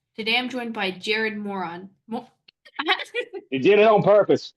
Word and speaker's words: Moran: not trying to call you moron. I'm sorry. Moran.